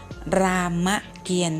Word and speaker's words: รามเกียรติ์: ตอเต่า สะอิด Alan นะ คะ อ่าน ออก เสียง รามเกียรติ์ นะ คะ คำ ว่า เขียน ไม่ มี ต่อ